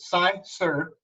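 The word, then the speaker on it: cyser: Sizer is a noun, pronounced Sizer, a blend of honey and crisp apples fermented together.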